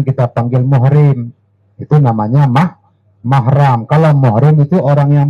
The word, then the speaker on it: mahram: bukan muhrim tapi mah ini dua kalimat yang sering salah diucapkan oleh orang maka yang kedua kayaknya bukan mahramnya yang dimaksudkan adalah mahram nasab bukan mahrammu Sarah